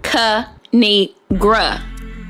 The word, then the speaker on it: Kinigra: It's pronounced Kinigra. Now subscribe.